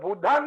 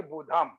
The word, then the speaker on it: बुद्धं: भी स्पष्ट होना चाहिए, हम लोग बुद्धांग बोलना चाहिए, ना कि बुद्धम। बुद्धांग बोलते हैं तो पाली होता है, अब बुद्धम बोलते हैं तो संस्कृत हो जाता है।